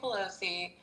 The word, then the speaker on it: Pelosi: So Nancy Pelosi got married and her husband's brother was once married to a lady who was whoation.